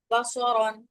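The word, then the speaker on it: بَصَرًا: খেয়াল করেন একটা জিনিস, বসরন আর বাশারন বা চাইলে দুইটা একই উচ্চারণ করতে পারতাম, কিন্তু করি নাই। মাখরাজ অনুযায়ী ভিন্ন ভিন্ন উচ্চারণ করছে। অর্থাৎ কেউ যদি এখানে বাসারন বা বাশারন এরকম সদের জায়গায় শিন সিন দুইটার একটা উচ্চারণ করেন, তাহলে হচ্ছে কিন্তু অর্থ পরিবর্তন হয়ে যাবে।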